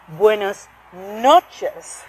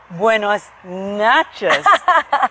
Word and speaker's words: buenas noches: Someone quietly pulled me aside and said, no, Wendy, the correct pronunciation is buenos noches, not buenos nachos, which means, Which means, so if you say buenas noches means good night, right?